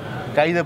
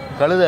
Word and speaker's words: கைதை: வர வர மாமியார் வந்து கைதை போலன்னுவாங்க. கழுதை இல்லை, கைதை போல. அது நீங்களும் புரிஞ்சுக்கணும், கழுதுன்னு அதை உச்சரிக்கக்கூடாது. கைதனா என்ன தெரியுமா, அது வந்து ஆக்சுவலாக ஊமத்தொம்பு.